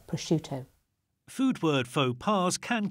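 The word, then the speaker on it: prosciutto: But the I that comes after the C softens the SC c to be a sh sound, not a sc sound. So it's pushuto.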